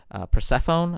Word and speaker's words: Persephone: Persephone, I believe it's pronounced.